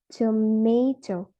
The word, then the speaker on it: tomato: For instance, in the word tomato, the stress falls on the second syllables. It will sound like tomato.